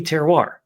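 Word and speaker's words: terroir: And even though it still took me maybe eight years to say it correctly, that would be teroir, you know, that that still that that's kind of the definition of it.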